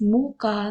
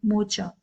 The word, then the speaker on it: mocha: Next is mocha, it is a type of coffee and its right pronunciation is mocha, not mocha.